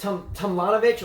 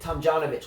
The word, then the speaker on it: Tomljanovic: Yeah, I forget if it with Tomljanovic or is it Tomjanovic. One of those letters is silent, and I forget which one it is. I mean, I think it's Tomjanovic.